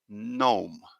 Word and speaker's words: gnome: silent letter is here the g is not pronounced at all it's gnome yeah and we can see here the